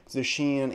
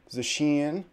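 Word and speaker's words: Zacian: do get some feedback the way i pronounce the sheen and to me i watched the official trailer for sword and shield and the japanese translators did pronounce it the sheen i've also heard of zasheen or a lot of other ways like that zashian for example there's the back and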